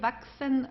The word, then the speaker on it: wachsen: Wachsen, waschen. CHS is pronounced like an X, wachsen, okay?